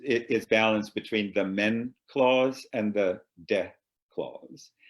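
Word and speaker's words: μέν: And so in the first part of a sentence, you put this one particle, which is pronounced men, M-E-N.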